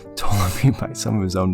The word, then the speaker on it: Ptolemy: History and the Maccabees tell us before the battle, an assassination attempt of Ptolemy was, no, the P is silent, Ptolemy by some of his own men took place.